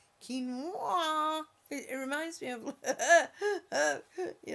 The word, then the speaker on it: quinoa: June that's not how you pronounce this it's pronounced quinoa it reminds me of you know come folk